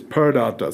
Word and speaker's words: Purr Data: up and running and okay pure data that is per data so that's how it